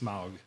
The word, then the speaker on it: Smough: I've heard it pronounced Smough, Well, you heard it wrong. but whatever. I still love you. It's also pronounced Smaug too.